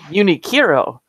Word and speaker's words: Uniqlo: that the brand name, I was calling it Uniqlo originally. Apparently most people say Uniqlo. But then I found a YouTube video about how Japanese people say it, and it's more like Uniqlo. Uniqlo. Yeah. I was repeating it over and over and over again, trying to get it. I don't think I came close. Yeah. But Uniqlo. Yeah, it's almost like it ends in URO.